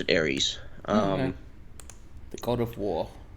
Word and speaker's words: Ares: We pronounce it Ares.